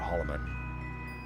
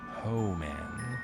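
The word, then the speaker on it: Hohmann: me with that pronunciation I wanted it used to call it Holloman then there's no L there so oh man transfer that's the cool one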